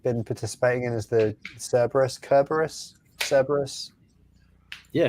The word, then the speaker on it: Cerberus: participating in is the cerberus kerberos cerberus yeah how do you say that i think technically if we're talking greek then it'd be kerberos right yeah maybe because caesar